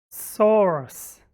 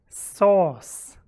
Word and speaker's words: source: better phrase snookered me i pronounce both these words the same source sauce sauce and sauce use